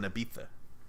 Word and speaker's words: Ibiza: beat that it smelled I bi za but it's pronounced Ibiza I don't know no